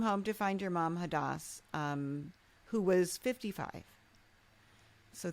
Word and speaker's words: Hadas: You were 37, came home to find that your mom, Hadas.